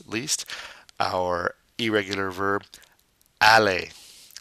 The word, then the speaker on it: aller: And last but not least, our irregular verb aller. Once again, that ER pronounced A.